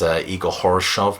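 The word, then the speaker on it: Igor Khoroshev: here that sees them replace Igor Horoshov. My wife is Russian and she says that's definitely how his name should be pronounced.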